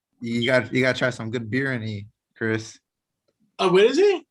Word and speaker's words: biryani: You gotta try some good biryani, Chris. Oh, what is it? Biryani. Oh, It's a type of rice. Biryani? Yeah. How do you spell it? Biryani. You might like it. BIR. Say it again. YANI.